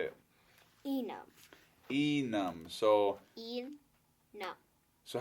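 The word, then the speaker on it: Enom: Enam. Enam. So Enam. So how do you spell it? E-N-O-M. So E-N-O-M. Yep. But how, you say it like it's E-N... U-M.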